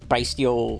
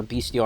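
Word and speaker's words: Bystial: barrel, one beastial magma, one b steel or beastial I think it's b steel you pronounce them.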